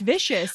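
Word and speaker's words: Vishous: shoes like i think that's how well it's pronounced vicious yeah that's how the audiobook narrator said it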